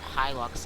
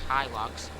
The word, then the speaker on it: Hilux: who say he looks like a squad or high locks like i do personally and i could go into the comments of the squads video and say you're saying it wrong say it right it's pronounced hilux but uh i just if you're just gonna